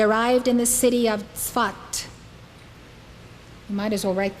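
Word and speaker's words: Safed: in the city of Swat you might as well write this down then it is spelled s-a-f-e-d but it's pronounced svat he arrived in the city of fat in 1570.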